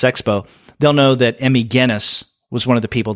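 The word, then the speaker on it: Gennis: that most people seem to call her Emmy genis which I can appreciate personally when your last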